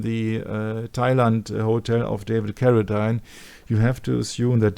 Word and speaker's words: Carradine: But then it is the photo of the hanged man in the Thailand hotel of David Carradine.